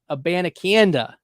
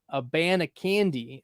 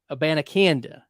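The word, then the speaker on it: Abanikanda: Hubbard go at running back 54 and Israel a banakanda that's how you pronounce it it's not a a band of candy uh it's it's well it's not a bandiconda it's Israel a banacanda and I I figured it out by listening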